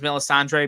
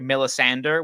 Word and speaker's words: Melisandre: But one is he he pronounces Melisandre Melisander, which just like honestly, go to go to jail.